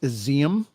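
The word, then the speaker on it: Izium: graves at a mass burial site in it's pronounced exium uh which is an eastern city reportedly recaptured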